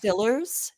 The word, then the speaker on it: Steelers: clothes in the warer it's actually pronounced Stillers Nick please have some respect